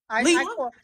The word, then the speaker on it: Leela: Um, I think this is where Leela is it Leela or Layla? I'm not Layla. getting Leela. I have a daughter, Layla, but this is pronounced Leela. It's Leela.